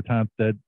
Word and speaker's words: Tonstad: playing that as we welcome in uh toned uh from the Elizabeth resolut of New Jersey am I pronouncing your last name correctly you are pronouncing